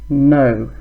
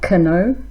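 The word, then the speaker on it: know: No, not ko. No. Silent K.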